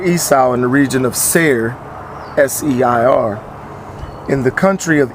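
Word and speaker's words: Seir: to his brother Esau in the region of Sayre s-e-i-r in the country of Edom Edom commanding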